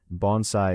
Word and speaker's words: bonsai: Bonsai is pronounced roughly bonsai.